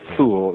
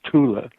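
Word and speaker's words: Thule: known as the Tula gazel sha it's usually mispronounced right thol it's it's not F in German it's Tula but uh the Tula gazelle sha or the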